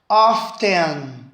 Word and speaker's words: often: você quiser legal próximo often as duas pronúncias sem eu ter com ter mudo ali né often frequentemente com